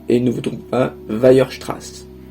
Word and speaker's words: Weierstrass: Répétez après moi, et ne vous trompez pas, Weierstrass. Weierstrass. Oui, c'est un nom allemand, c'est compliqué, c'est comme ça.